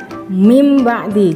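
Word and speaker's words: مِن بَعْدِ: fasih contohnya kalimatnya ya Min ba'di ya Jadi dibacanya mimba'di jadi ada apa namanya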